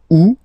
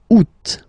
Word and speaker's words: août: And then here, two options, because, well, two options are acceptable in French. The first one, you don't pronounce the final T. Ou. Ou. Ou. Second one, you pronounce it. Août. Août.